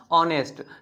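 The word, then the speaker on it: honest: लगेगा अब एन कैसे लग गया तो इसका उच्चारण करिए क्या बोलते हैं ऑनेस्ट बोलते हैं क्या बोलते हैं ऑनेस्ट ठीक है ना देखिए यहां पे क्या आ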